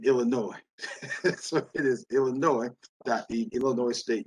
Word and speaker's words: Illinois: A friend in the past told me it is pronounced Illinois. There's no noise in Illinois.